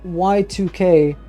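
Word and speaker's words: YIIK: these days it's some it's supposed to be pronounced Y2K as in the Y2K bug okay that is a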